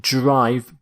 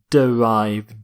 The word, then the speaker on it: derive: word is derive derive not note the pronunciation not drive but derive derive if something is derived